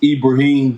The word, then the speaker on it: Ibrahim: homeboy and that's abraham the same abraham of your bible is in arabic is pronounced ibrahim he proved that he